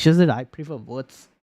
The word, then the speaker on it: Wirtz: It's just that I prefer Wirtz or Wirtz, if you want to pronounce in terms of German.